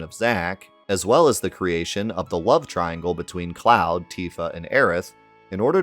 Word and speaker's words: Cloud: Fair to contrast with Cloud's as a play on fair weather versus cloudy weather. In Kana, his name can also be read as Claude Strauss, but was specifically pronounced Cloud to fit the allegory.